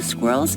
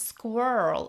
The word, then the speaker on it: squirrel: This word is pronounced squirrel in American English, while in British English, it's more like squirrel with a softer R.